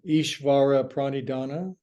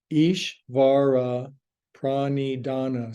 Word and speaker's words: Ishvara Pranidhana: There's a word in yoga, Ishvara Pranidhana. Ishvara Pranidhana, 7 syllables. It's Sanskrit, and essentially it means surrender to God.